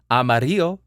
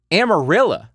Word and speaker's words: Amarillo: Now you know if you ever go to Texas, it's not Amarillo, it's Amarillo. Say it right. Speak like the natives.